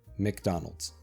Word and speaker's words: McDonald's: I've heard this pronounced in a different way in Russian and also in Italian. So, the American way is McDonald's.